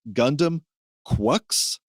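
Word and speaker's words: Gundam GQuuuuuuX: It's spelled very, very strange, but is pronounced Gundam Quucks.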